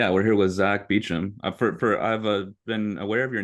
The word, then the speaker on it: Beauchamp: of London, there's a Beauchamp Tower that's pronounced the same way.